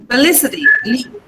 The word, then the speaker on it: felicity: Felicity. The stress is on Lee.